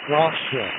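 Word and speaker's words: Rocha: Rosha Rosha.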